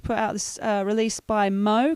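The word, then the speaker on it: MHO: It's pronounced Mo, M-H-O, but it's pronounced Mo.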